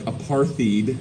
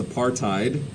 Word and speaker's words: apartheid: there at the bottom i know it looks like apartheid but that's not how it's pronounced it's apartheid what is apartheid well uh